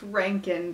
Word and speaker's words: Reintgen: pan huh that's convenient his website is it's pronounced Rankine calm it's very helpful thank you this book